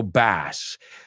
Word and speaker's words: bass: So bass um the bass rhymes with mass as born to iron man said.